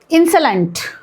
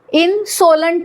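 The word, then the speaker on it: insolent: लक्षात येईल की हे कसं रीड करायचं इनसोलंट नाही इन्सलंट ठीक आहे मिनिंग काय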